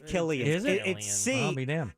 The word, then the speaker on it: Cillian: is it Killian or silion it is Killian to me it looks like Cillian and I thought it was until I heard the interview and he pronounced a killer there you go did